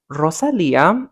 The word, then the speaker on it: Rosalía: Um, in other news, Jeremy Allen White has seemingly split from Rosalia. He was spotted. Rosalía. Well, you got to roll your R's.